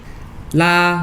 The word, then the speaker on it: 拉: La, first tone is to pull.